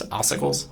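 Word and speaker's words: ossicles: It's oicles. Okay. What is that? So, it depends where you're looking. There there are oicles in different locations.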